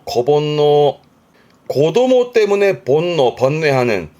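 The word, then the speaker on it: 子煩悩: 그래서 발음이 고본노 고본노 고도모 때문에 본노 번뇌하는 즉 자식 사랑이 끔찍한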